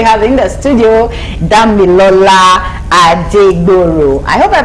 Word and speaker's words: Adegboro: Ladies and gentlemen, we have in the studio Damilola Adegboro. I hope I pronounced that well. No. Okay. It's Damilola Adegboro.